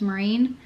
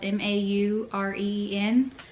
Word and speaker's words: Maureen: My middle name's Maureen. It's spelled M-A-U-R-E-E-N. Not Maureen, Maureen.